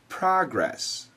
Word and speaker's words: progress: American pronunciation progress progress when spoken as a noun we usually say progress and sometimes as a verb we say progress or progress here's a sentence as